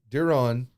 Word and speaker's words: Duron: So my name is Duron. It's pronounced, I think. I don't really count them as family. I kind of do. But Duron is how we say it.